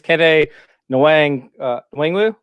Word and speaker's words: Kene Nwangwu: All right, his name is Kene Nwangwu. I think that's how you say it. Nwangwu? Once again, you're pronouncing it better than me.